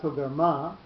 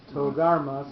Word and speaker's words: Togarma: So it's not Togarma, it's Togarma. So you split the emphasis between the first syllable and the last syllable.